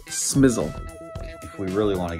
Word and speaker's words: SMSL: SMSL? No, no, no. It's pronounced smizzle.